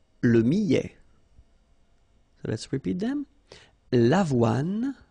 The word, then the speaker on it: millet: Le millet, here, I, and then double L, so I, millet, E-T at the end, open, millet.